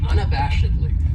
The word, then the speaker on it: unabashedly: then we have unabashedly this adverb has five syllables and the stress is on that third syllable that bash unabashedly that second syllable has that schah that uh sound unabashedly and what it means